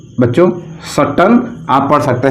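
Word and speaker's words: Chatton: Given by terms, given by इसे कहा जाता है बच्चों सट्टन। आप पढ़ सकते हैं चट्टन, हैं? देखिए इसका शुद्ध जो है प्रोनाउंसिएशन है वो सट्टन, लेकिन हम इसे पढ़ते हैं चट्टन।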